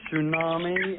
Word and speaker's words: tsunami: No, you don't pronounce it.